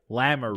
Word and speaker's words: Lamoureux: So LaRue. Is it LaRue? It's Lamoureux? Lamoureux.